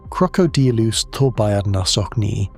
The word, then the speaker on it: Crocodylus thorbjarnarsoni: In 2012, paleontologists Christopher Brochu and Glenn Storrs described a crocodile from that lake basin they named Crocodylus thorbjarnarsoni, pronounced Crocodylus thorbjarnarsoni.